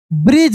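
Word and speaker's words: bridge: WOODEN, यानी wooden, wooden, ब्रिज, यहाँ पे डी साइलेंट है जिसे बताया हूं मैं,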